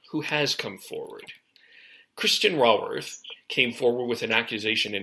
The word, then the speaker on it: Raworth: It's Raworth, so Ray Drop of Golden Sun Worth. Raworth.